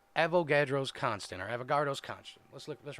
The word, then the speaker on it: Avogadro: The constant that we use was named after Amido Avogadro.